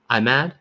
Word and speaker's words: Ahmed: Because that would be the short A in English, but how would I say that in Arabic? Ahmed? In Arabic, this sound doesn't exist in English. It's ayn, like it's Ahmed.